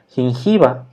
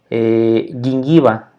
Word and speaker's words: gingival: de forma suave entonces cómo está escrito en español encía en latín no le diríamos como gingival pero no se dice así en latín se diría el ying y va ese sería el nombre de la pronunciación en latín una suave como si